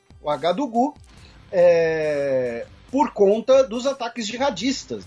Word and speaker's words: Ouagadougou: Você que pronuncia de forma impecável. Ouagadougou. Ouagadougou.